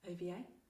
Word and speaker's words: Ovie: At the time, Ovie. Yeah. Did I pronounce it correctly?